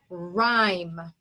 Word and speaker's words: rhyme: a one syllable word the y in a one syllable word says i when it's the vowel so this is a vowel consonant silent e word that's why the e is at the end so this word is rhyme okay rhyme all right